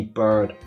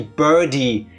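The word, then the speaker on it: Byrde: Her name isn't Maggie Bird. Her name is Maggie Birdie, hence the feathers. I still don't get the feathers though because her name is Birdie.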